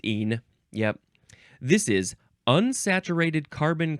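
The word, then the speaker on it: -ene: Now, how do you pronounce this? Just een.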